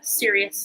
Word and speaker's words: Sirius: vibes from the star series not like sirius like this is serious everybody listen but serious like this spelled like that serious like the star series you know the dogs star um but you are